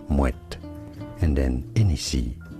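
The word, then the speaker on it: Moët: Yes, you do want to pronounce the T there, Moet.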